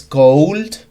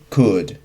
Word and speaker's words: could: Igual, en could no es cold, sino es could, right?